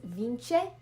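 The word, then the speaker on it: vinte: like little tips so the word for 20 is vince in uh portuguese but it's kind of written like viente so i just wrote like vince to know how to properly pronounce it i leave a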